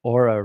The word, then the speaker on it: Oura: So I use the Aura Ring, which is spelled Oura, I believe, the Aura Ring.